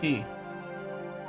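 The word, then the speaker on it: quay: It took a long time before I realized this word is pronounced key. Or at least that I wanted to pronounce it key.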